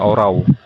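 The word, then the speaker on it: ὁράω: Kata melihat di sini dengan strong numbernya 3708 dalam bahasa Yunani menggunakan kata horau. Bacanya orau.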